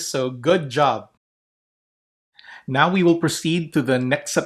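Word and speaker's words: ν: it is like, or it sounds like the letter N. And that's why if you look at the uncial form, it is the letter N. Okay? So it is pronounced as N, as in now. N.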